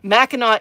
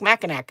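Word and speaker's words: Mackinac: And Meno is the correct pronunciation for Machinak. So those of you who are looking at um, Erica's comment and going, "Oh, that looks like Macak."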